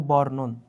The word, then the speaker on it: বর্ণন: তো সবসময় যখন আমাদের কোথাও রেফ বসে, সে রেফটা হচ্ছে আমাদের আগে উচ্চারিত হয়। তো এই কারণে বয়ের পরে এই রয়ের উচ্চারণটা আসবে ঋতু বর্ণন।